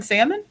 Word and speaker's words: salmon: you all gave japan salmon yeah it's the number one thing that japan knows about norway salmon cool oh right we also pronounce it differently you there's an l in salmon for you yeah but you gotta